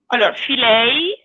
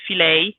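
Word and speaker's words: Fileja: Allora, this pasta is called filet, plural. It's written fileia with a at the end that we pronounce a, but it's actually pronounced in the English way filet.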